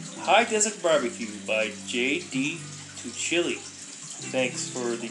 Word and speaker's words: Tuccille: Tuccille. Thanks for the pronunciation guide, Mr.